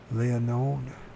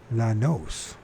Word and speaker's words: Llanos: Leonode? No, that's not how you pronounce it. Let's pronounce that. There's Gonzales, and then how do you pronounce that town? Oh. Llanos.